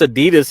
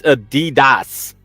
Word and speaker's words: Adidas: that's correct it's like Adidas Adidas is not pronounced Adidas here it's Adidas Adidas that's German Adidas Adidas